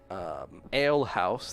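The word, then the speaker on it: Ailhause: kind of, like, well-lit ale house that looks as though it has a mess of people inside. An ale house? Mm-hmm. What is it called? Ale house. But it's spelled A-I-L-H-A-U-S-E. The ale house, yeah.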